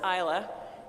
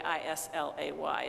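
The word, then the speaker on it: Islay: this um both Islands Isla and that is spelled by the way i-s-l-a-y if you go to the liquor store and you look at the kinds of scotch but they say Isla both Isla and Iona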